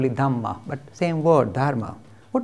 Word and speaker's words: Dhamma: Same word used in Buddhism, slight different different pronunciation, they call it Dhamma, but same word, Dharma.